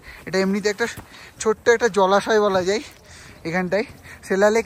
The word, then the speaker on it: Sela: আমরা বলছি সেলা, কিন্তু এখানে লোকালরা কিন্তু এটাকে প্রোনাউন্সিয়েট করে জেলা বলে।